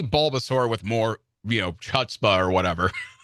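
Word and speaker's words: chutzpah: They like say Bulbasaur with more you know chutbah or whatever. So hutbah is the is the is the proper Yedish pronunciation.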